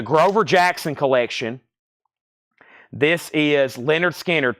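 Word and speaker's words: Lynyrd Skynyrd: is from the grover Jackson Collection this is Leonard skinnard pronounced Leonard skinnard Leonard skinnard pronounced Leonard skinnard it's on the OG first label and we're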